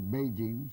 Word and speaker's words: Beijing: Mao Zedong anuncia en Pekín, que por cierto ya no se dice Pekín, se dice Beijing, según me ha dicho mi amigo Eduardo Torres Dulce. Toda la vida era Pekín, pero ahora es Beijing.